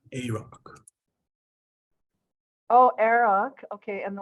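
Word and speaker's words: Arok: Eric Wolvengray. Eric. It's pronounced A-Rock.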